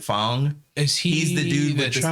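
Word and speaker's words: F.A.N.G: bong was another one f-a-n-g and it has like but they pronounce it phong is he he's the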